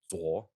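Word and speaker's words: 左: In fact, when Chef Peng Cheng Quan It's pronounced Zuo, but anyway.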